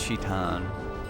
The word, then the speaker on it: Shaitan: It's Shaitan, and that's how it's literally spelled like this when it's translated into English.